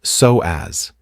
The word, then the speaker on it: psoas: It's pronounced psoas, and it is one of the longest, most powerful muscles in the entire human body.